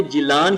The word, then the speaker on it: جیلان: ساحل پر واقع ہے۔ گیلان کا تلفظ اہل عرب نے جیلان کیا ہے، اسی نسبت سے آپ